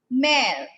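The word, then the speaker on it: mère: is given tell me very good it is pronounced as pair pair means father this is mar mar means mother mother and mare and when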